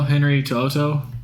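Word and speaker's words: Henry To'oTo'o: so I my guts tell me to go Henry to Oto that's how you pronounce that name the linebacker out of Alabama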